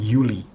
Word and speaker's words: Juli: Dalam bahasa Indonesia Juli, dan dalam bahasa Jerman Yuli.